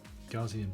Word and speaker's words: Gaussian: i'll do that i'm gonna go to gauge gaussian blur that's how it's pronounced okay and then if i swipe across